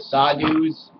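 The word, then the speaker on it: sadhu: smoke weed like the sadus and India there's which I'm pretty sure is pronounced sadu these people they're they're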